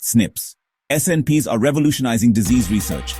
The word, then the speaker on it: SNPs: These are called SNPs, single nucleotide polymorphisms, pronounced SNIPS.